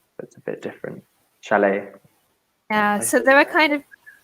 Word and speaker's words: chalet: I'm lazy I say chalet le but you're right it should have the stress on the second syllable because it's a French word that's a bit different chalet so there are kind